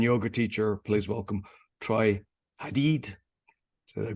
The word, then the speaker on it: Hadeed: Today my guest, author, speaker, serial entrepreneur, and yoga teacher, please welcome Troy Hadig. Did I pronounce it properly?